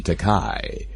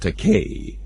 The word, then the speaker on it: Takei: my own last name you call me takai T A ke I is is pronounced teay however you can call me taka if you wanted that's a legitimate Japanese word spell t a k